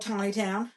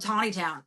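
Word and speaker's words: Taneytown: So there's this place in Maryland called Tawny Town, right? It's spelled Taney. It's spelled Taney. It's spelled Taney town, right? Taney Town. Ugh.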